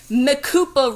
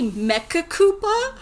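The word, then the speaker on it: Mecha-Koopa: Well, good thing I have these Makupa robots, which I think they're supposed to be Mecca Koopa, but they don't add that extra syllable.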